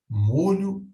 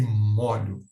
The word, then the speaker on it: molho: mesmo e não a Apesar dessa distinção de pronúncia não há uma marcação gráfica na palavra não há nenhum acento que marca essa diferença de pronúncia é o molho e moro na pronúncia um time fechado molho e também na